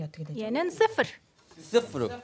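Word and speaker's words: صفر: 영은 발음이 어떻게 되죠? 얘는 스프르.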